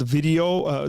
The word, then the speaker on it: Vidyo: So it's called video. The way you spell it is vidyo.ai.